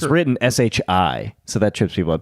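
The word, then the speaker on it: 是: Because it's written SHI, so that trips people up. People say she a lot, but it's actually pronounced shi.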